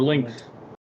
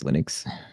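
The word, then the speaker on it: Lynx: Lin 10 or Links. Getting mispronounced as Linux.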